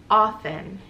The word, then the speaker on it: often: I think it was often, A-F-F. And the King's English, or in, you know, with the British accent, I guess, it would be often, often, or often. But the T is silent, so I did not